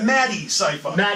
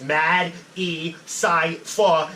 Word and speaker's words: Matty Cypher: Like I tell people to sound it out. Like it's Mad, E, Cypher, and it's all one word. But if you sound it out like that, like syllable structure, which is how my whole basis of rapping is a syllable structure, that you'll get it. Some people think it's made cypher, whatever, and then, but